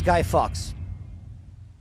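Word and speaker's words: Guy Fawkes: His name is Guy Fox. That's how it's pronounced.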